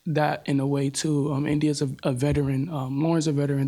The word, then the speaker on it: Endyia: Endyia, did I pronounce that right? Is that Endyia. Right? What's that? Endyia. Endyia. Okay, well, I'll probably mispronounce it, but I mispronounce everybody's name.